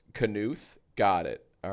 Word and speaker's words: Knuth: Oh, it's pronounced Knuth.